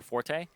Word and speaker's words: forte: time because it's their Forte and that's something that you really want to fun fact Forte is also actually pronounced Fort oh yeah it is not Forte you're correct so is